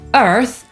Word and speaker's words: Earth: czyli „world” /wɜːld/ lub /wɜ:rld/, „Ziemia” to „Earth” /ɜːθ/ lub /ɜ:rθ/ i „urodziny” — „birthday” /ˈbɜːθdeɪ/ lub /ˈbɜ:rθdeɪ/. I żeby ułatwić sobie wymowę słowa „urodziny”, warto przed tym członem /deɪ/ zrobić króciutką pauzę: birth, day.